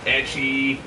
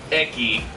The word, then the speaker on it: ecchi: Seriously, I've seen some shit just go on in anime, fucking ecchi, or eki, as some people like to mispronounce.